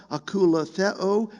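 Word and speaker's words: ἀκολουθέω: he called follow me word pronounced akulatheo means walking the same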